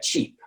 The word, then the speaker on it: cheap: eating some chips all right or you've got cheap uh was your new car cheap or was